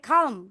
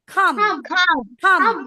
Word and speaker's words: calm: একই হবে এটা কি calm হবে calm it should be calm L silent calm মানে calm and